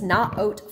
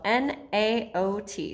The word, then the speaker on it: NAOT: carry in the store it's not oat footwear spelled n-a-o-t sometimes people say naot not oat is more of the israeli pronunciation which is where the shoes are made and i want to